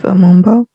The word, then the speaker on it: Amumbo: Chief of Amumba, Spell that. UMBO. Chief Amumbo.